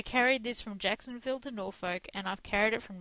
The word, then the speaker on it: Norfolk: said it wrong no it's Norfolk cuz that's how we say it here we've actually got that's